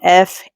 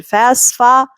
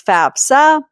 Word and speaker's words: FAFSA: FAFSA. I hear a lot of people pronouncing it FASFA. It's not FASFA. It's FAFSA.